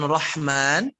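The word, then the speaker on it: الرحمن: Baik, begitu mengucapkan Rahman, haknya dia seperti tersenyum. Bismillahirrahmanirrahim. Gitu ya, jangan roh.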